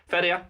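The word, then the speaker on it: feria: might not know what fedia is. F E R I A. You know, you've been living abroad for a while. When you pronounce R as R instead of or as we say in Ireland, but people don't understand it.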